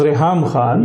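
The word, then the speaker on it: Reham Khan: We keep mispronouncing that name. We need to be accurate. She corrected us, so that's why she actually corrected us. The name is Raham Khan.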